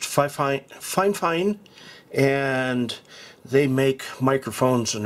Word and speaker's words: Fifine: let's unbox the microphone that looks like fifeine but i understand it's pronounced fine fine and they make microphones